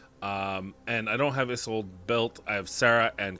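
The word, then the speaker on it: Isolde: why people call her a sold day I there there's no there's no Accent on that e it's a silent E it's Tristan and isold it's it's literally the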